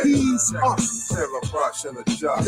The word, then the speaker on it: Jesus: But they can't see us, cause there were no J's in Hebrew. Jesus is pronounced as he's us.